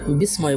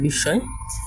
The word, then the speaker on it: বিস্ময়: আচ্ছা, তারপর হচ্ছে বিস্ময়, এটাকে আমরা অনেকে বিস্ময় বলি, কিন্তু এটা হচ্ছে বিস্ময়।